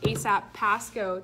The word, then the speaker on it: ASAP Pasco: Everyone, I am here with Chrissy and Monica from ASAP Pasco.